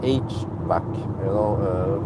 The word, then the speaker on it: HVAC: And many times when I talk about HVAC, I mean, that's how you pronounce it, HVAC, very common among car and service personnel, the HVAC.